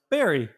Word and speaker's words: bury: going to bury something it's still spelled b-u-r-y bury but it's pronounced berry there are some places